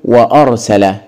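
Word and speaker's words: وأرسل: هنضع امامها حرف الواو ينفع اقول وارسل وارسل ما مشيتش معايا تحس ان في خلل في الكلمه اذا ننطقها بالهمزه ونقول وارسل ايوه كده انضبطت الكلمه اذا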